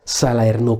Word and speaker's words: Salerno: Hello everyone, I'm and this is Vlog, and this is Salerno 43. Or let me say it because that's Italy, folks, Salerno 43.